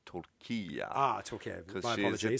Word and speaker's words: tortilla: I used to say tortilla as well. It is spelled that way, but it's actually pronounced torquilla.